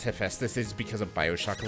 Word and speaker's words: Hephaestus: The only reason I know how to pronounce Hephaestus is because of Bioshock, of all things.